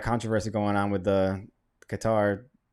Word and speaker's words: Qatar: know anything about guitar all I know is it Rhymes a guitar actually it's not even how you say it is cutter when you're actually there but um I have